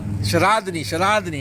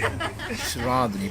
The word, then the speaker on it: Sharadani: Sharadani, yeah. We came so you guys can learn how to pronounce the name properly. Sharadani.